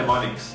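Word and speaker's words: mnemonics: point fifth tip है निमोनिक्स यार अगर एम साइलेंट ही रखना था तो इंक वेस्ट क्यों की और मुझे ये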